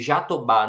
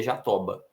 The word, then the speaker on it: Jatobá: Então, se Jatobá não tivesse acento, a nossa pronúncia seria Jatoba.